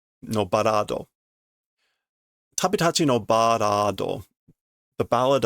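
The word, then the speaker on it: バラード: Tabitachi no parado. No barado.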